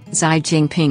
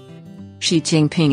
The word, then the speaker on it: Xi Jinping: in certain words such as with the English pronunciation of foreign words or names for example zai Jingping is the current president of China you can